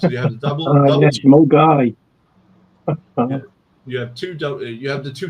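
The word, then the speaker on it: Milngavie: Well, the one he had before that, Mulgai, was brilliant. Because for years, so we're getting on the Milner-Garvey train. I know it's pronounced Mulgai.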